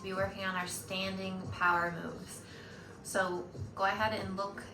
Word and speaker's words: PWR! Moves: If you are new to power moves, it's spelled PWR and they stand for Parkinson's Wellness Recovery.